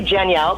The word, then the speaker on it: Janielle: So it's pronounced, it's basically Janielle, like Danielle, but with a J. Oh, I love it. Okay, let me make sure. Janielle.